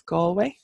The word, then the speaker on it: Galway: we're gonna go with Galway next which is Galway so I don't wanna hear any other pronunciation of a place everybody says Galway that's